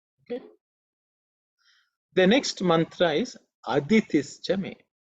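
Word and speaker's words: अदितिश्च मे: The next mantra is Aditischa me. Aditischa me. Aditischa me. In this mantra also, the I is normally silent when you chant.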